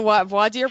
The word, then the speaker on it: voir dire: You were in the voir dire process? I was in the voir dire process. How's that pronunciation there, Christopher?